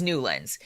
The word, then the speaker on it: Newlands: called the Newlands resolution spelled like new lands and I was like oh well the government is getting fancy and naming their resolutions no the guy's name was nuland he was some Congressman